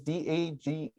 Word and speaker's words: Dagny: Dagny is Dagne.